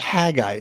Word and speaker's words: Haggai: It's Haggai, dude. Like, what? It's so weird when he pronounces it like that.